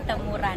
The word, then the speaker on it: Temurun: Akhirnya kepikiran bikin acara lari karena ada run kan, kalau bahasa Inggrisnya dibacanya run, jadi temuran gitu.